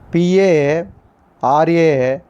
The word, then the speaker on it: paradigm: In this class, the first one is PARADIGM. This is the first one in this class. Which is the silent letter here? G is a silent letter.